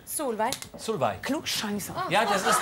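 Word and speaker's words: Solveig: Aber du wirst soll weit geschrieben, aber ausgesprochen in Norwegen wirst du? Solvay.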